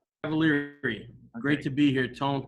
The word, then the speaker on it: Cavaliere: know and his last name's cavalieri or cavalieri i'm not 100 sure so i would love to know at this point how do you say your last name cavalieri great to be here